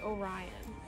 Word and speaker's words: Orion: His name is actually Orion. Yes. I learned that today in my Greek mythology class. Yeah. And I've been pronouncing it Orion.